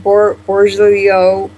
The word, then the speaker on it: Bergoglio: But how do you pronounce his last name? Bergoglio.